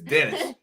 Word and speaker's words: Denis: Nowhere near as good as Saint Denis. That's how I'm gonna say his name. I'm pretty sure it's wrong. Saint Denis. Saint Denis. My bad. Not here in America. It's Dennis. See that shit? D-E-N-I-S.